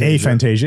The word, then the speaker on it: aphantasia: are having trouble visualizing aphantasia as we call it or aventis a fantasia is that which is the right pronunciation either one either one okay so we we